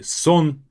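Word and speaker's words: солнце: chest means light is Sun this is silent we you simply say son then next two words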